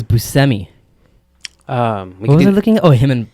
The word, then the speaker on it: Buscemi: even though everyone else in the entire world pronounces it bushemy yeah so it's busemi um looking oh him and pulp picture we